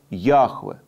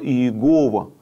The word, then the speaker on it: Яхве: должно было звучать как Яхве Ях и вот это слово употребляется вместо слова Иегова который является устаревшей так сказать устаревшим произнесения Ну важно понимать что